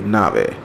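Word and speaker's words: navet: Turnip in English, le nave, le nave. So T is silent here.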